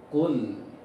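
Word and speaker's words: قل: Anda ulangi lagi pengucapan Qaf tebal. Ak, Ko, Ak, Ko, pangkal lisan di dalam. Ak, Ko, Ak, Ku, Kul, Kul. Pengucapannya harus tebal.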